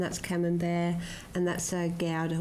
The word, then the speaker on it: Gouda: And that's a Devon farmhouse, and that's camembert, and that's a gouda, which is pronounced gouda. Gouda. Gouda. You've got to get the rumbling from the back there.